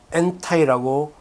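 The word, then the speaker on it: 烟台: 그리고 이게 상하이로 가서 그 다음에 여기가 이 연태, 엔타이라고 현지 발음으로 하는 연태에 여기 지프가 여기에 있어요.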